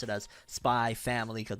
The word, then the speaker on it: Spy x Family: gonna pronounce it as spy family because most people said it's like hunter hunter where the x is silent it's not hunter x